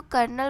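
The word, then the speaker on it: colonel: तो कॉलन नहीं बोलते। वैसे इसको कर्नल बोलते हैं। बट मैंने लिखा था ऐसे ही प्रोनाउंस कर दिया।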